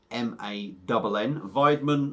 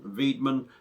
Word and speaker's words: Weidmann: it's Weidman I think it's pronounced w-e-i-d-m-a-n vidman viedman however you want to say it uh Verizon uh